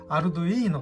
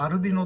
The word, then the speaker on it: Arduino: しています私はこのボードの開発者のマッシモさん発音に倣ってあるといいのと発音していますちなみに秋月で